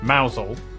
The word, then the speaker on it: Mousehole: Starting in Beaulieu, Beauly, head over to Rampisham, Ransom, then down to Mousehole, Mousel, next travel north up to Towcester, Toaster, then